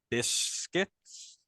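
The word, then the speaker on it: Busquets: get much time because of this guy's Sergio biscuits yeah that's how you pronounce that um you also had a young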